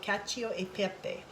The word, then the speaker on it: cacio e pepe: who are watching this will cringe when i pronounce this but um i believe it's called cachio e pepe which means cheese and pepper pasta so what